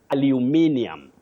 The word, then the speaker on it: aluminium: This word has two acceptable pronunciations. One you say aluminium.